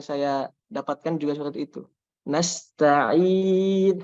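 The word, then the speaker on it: نستعين: Nasta'in harus bersih ya ketika panjangnya itu tidak ada dari hidung. Kalau alamin mungkin lebih sulit karena mim itu ada sebagian suaranya yang keluar dari hidung. Maka nanti terbawa, efeknya itu terbawa ke. Tapi kalau ain benar-benar nggak ada suara dari hidung, maka langsung mungkin lebih mudah ya.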